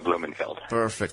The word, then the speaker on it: Blumenfeld: Samuel Blumenfeld.